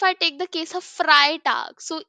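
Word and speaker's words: Freitag: take the case of fry tag so EI is pronounced as I fry T So this trick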